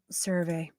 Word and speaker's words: CeraVe: CeraVe.